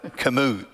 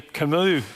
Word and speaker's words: Camus: And so, you know, I remember the French existential Philosopher Albert Camus, is that how you pronounce it?